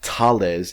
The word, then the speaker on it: Thales: Australia has already purchased 200 weapons for use with the Super Hornet fleet, and Lockheed Martin and Thales Australia, pronounced Thales if you are a Frenchman, are jointly developing the